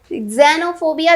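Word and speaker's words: xenophobia: ज़ेनोफोबिया जेड से नहीं है, एक्स से है, XENO, ज़ेनोफोबिया, ठीक है। इसे एक्सनो आप प्रोनाउंस नहीं करोगे, इट्स कॉल्ड ज़ेनोफोबिया।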